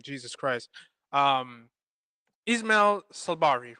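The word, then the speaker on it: Saibari: Um Ismael Sabari, right? Correct? Sabari, yes. okay. Sorry to any Moroccans out there. My apologies. I'm can't pronounce right now.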